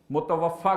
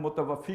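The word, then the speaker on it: متوفّٰی: پورا وصول کر لینا۔ متوفا کہتے ہیں، ویسے ہم متوفی کہتے ہیں لوگ، یہ غلط تلفظ ہے، متوفی تو وفات دینے والے کو کہیں گے، متوفا جس کو پورا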